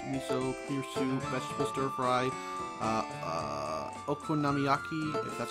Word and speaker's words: okonomiyaki: recipe use spinach miso here soon vegetable stir-fry okonomiyaki that's how you pronounce it candied sweet potato I want to